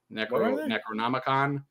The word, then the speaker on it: Necronomicon: Necronomicus, Necronomicon.